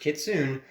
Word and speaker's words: kitsune: I know how to pronounce those. I If guess it wasn't in Naruto, I don't. Wait, kitsunes were in Naruto, weren't they?